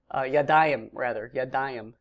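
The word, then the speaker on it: יָדַיִם: So yadim, yadayim is how you pronounce that word.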